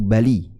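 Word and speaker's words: بلي: Ada dua orang dari suku di sini kalau di bacanya suku Bali ya min Bali.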